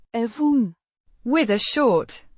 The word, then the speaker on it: even: Pronounced eh-vuhn, with a short e, as in egg, and a short u as in up.